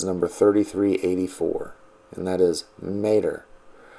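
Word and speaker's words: μήτηρ: 3384 and that is mater which is phonetically speaking may and terror so tare is in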